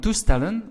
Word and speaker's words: toestellen: However, listen to my pronunciation, lepel, unstressed. However, we say toestel, right? Toestel. Now in toestellen, which is devices, the last EL is stressed.